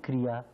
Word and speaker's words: Kriya: Mother, in Kriya, there is two syllables, Kri and Ya.